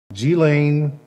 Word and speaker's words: Ghislaine: I want to make sure I pronounce her name correctly. Ghislaine is now in federal custody.